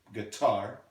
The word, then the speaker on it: guitar: I brought my guitar guitar the syllable the stress is on the second syllable here guitar let's say it together